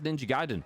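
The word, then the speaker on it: Ninja Gaiden: I've got it on mute n she says ninja giden so you're right there we go we gram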